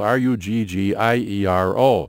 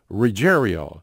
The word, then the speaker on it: Ruggiero: His name was Reggie Ruggiero. Now, Ruggiero was spelled R-U-G-G-I-E-R-O, but everybody pronounced, including Reggie and his family, pronounced it Ruggiero.